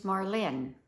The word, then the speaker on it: Marlene: Hi, my name is Marlene. That's right, the accent on the second syllable.